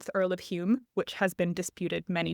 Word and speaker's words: Home: with a U to Hume with an O, but still pronounced like Hume with a U to make a family relationship to the Earl of Hume more plausible.